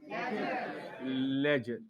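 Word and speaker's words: ledger: इसमें डी जो है वो साइलेंट है, क्या पढ़ोगे? लेजर।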